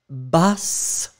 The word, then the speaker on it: basse: Alors, we do agree that the masculine form is ba. You write it B-A-S. So masculine form ba, and the feminine form, you double the S, so you will get bas. You really hear the S that is quite strong in that case.